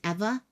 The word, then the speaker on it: Ewa: where he lived in Eva Beach Ewa is Eva Ewa Beach Kapolei is